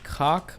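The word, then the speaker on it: Kach: The Koch party has been barred from participation in the 1992 elections and then subsequently made illegal. That's good, I guess. On the 26th of October, it's pronounced catch.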